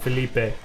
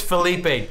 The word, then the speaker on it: Philippe: one phrases like Philippe it's not Felipe it is Philippe damn it thoughtfully bits